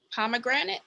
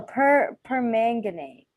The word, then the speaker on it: permanganate: pronounce it potassium yeah pomegranate no permanganate that was my bowl